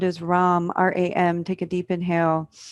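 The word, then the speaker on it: ram: further up into the solar plexus the seed syllable sound is rom r-a-m take a deep inhale run taking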